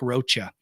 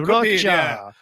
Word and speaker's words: Rocha: Rocha. And I would hear that cockroacha. I would hear Rocha. Eventually, when I eventually got to the point where I'm like, you know what? It does rhyme with mocha.